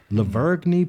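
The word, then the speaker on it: La Vergne: Leverne police, Tennessee.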